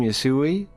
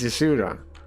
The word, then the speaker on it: Yuda: Like, it's not the guy's name. It's Yuda. He still can't say his name right.